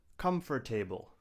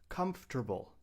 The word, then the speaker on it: comfortable: Do not say comfortable. We say comfortable. There are three syllables.